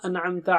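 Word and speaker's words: أنعمت: An'amta alayhim. An. Should be very clear. It's not anamta. It's not anamta. No. An'amta.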